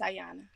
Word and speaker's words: Ayan: yes okay were you is your name Ayan am I saying it right yes Ayan a ay okay I'm I'm